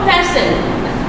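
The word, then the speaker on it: fasten: ফাস্টেন, ফ্যাশন উচ্চারণটা আমরা করবো ফ্যাশন।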